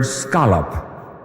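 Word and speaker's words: skolop: It is the Greek word scolop and it is spelled s k o l o p. Scolop.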